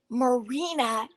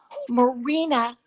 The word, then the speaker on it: Marina: It is Marina, which rhymes with Lorena, Marina Astor.